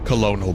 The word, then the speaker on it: colonel: It's actually spelled Colonel, but it's pronounced Colonel, Snake.